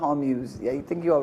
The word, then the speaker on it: Hormuz: I think it's pronounced Hormuz.